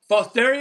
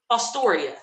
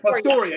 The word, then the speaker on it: Fostoria: That's a Fosteria, I think it is. How you say it? Fosteria. Okay. No, wait a minute. Fostoria. Fostoria? Fostoria, yeah.